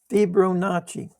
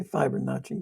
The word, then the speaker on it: Fibonacci: So now you can see um how to use the um Fibonacci. I want to say Fibonacci, but they pronounce the I's E in Italy.